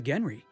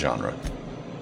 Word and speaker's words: genre: It's a rule of the Genry.